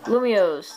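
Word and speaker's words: Lumiose: yeah let's just forget about lumio blablas city lumios that's how you say it yeah luma lumios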